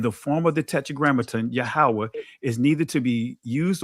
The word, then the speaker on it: Yahweh: I'm saying Yahweh because that's how it's pronounced, or Adonai, is to be translated Lord and the form God.